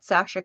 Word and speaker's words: Sacha: send me a message it's Sasha s is is how my name's actually spelled but I use the yes so people understand how to say it Sasha I get a lot of satches or people put the s in anyway so yeah